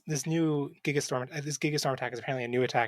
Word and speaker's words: Gigastorm: It says because Gigastorm with a soft G as Doc Brown intended.